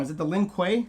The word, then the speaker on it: Lin Kuei: I always say it wrong, is it the Lin Kuei? Lin Kuei.